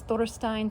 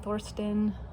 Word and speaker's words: Thorstein: This is Thorstein, Thorstein, Thorsten. I never did get clear exactly how to pronounce that. That's that letter ash in there. It's a little bit confusing. I think when I did the audiobook, I used Thorsten.